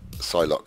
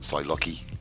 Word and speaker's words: Psylocke: Psylocke. I suppose that's how you pronounce it. Not Psylocke-y, Psylocke.